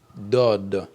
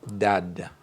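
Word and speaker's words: ض: Donc ça se lit dod et non dad.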